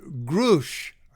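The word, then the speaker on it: Grusch: star witness was um David grush I think that's how you pronounce it capital g r u s c h and he mentioned in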